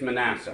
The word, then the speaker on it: Manasseh: So, Jehovah or Joseph called the name of the firstborn mania. Is that pronounced correctly? I think it's Messiah. Uh I I'm going to go with you. Man, it's Manasseh.